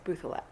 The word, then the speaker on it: Bouthillette: So we've always pronounced it the anglicized way as Bouthillette. Bouthillette, okay.